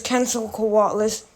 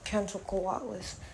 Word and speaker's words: Quetzalcoatlus: I'm going to be doing Tyrannosaurus Rex versus Quetzalcoatlus. I can't pronounce it Quetzal because of that.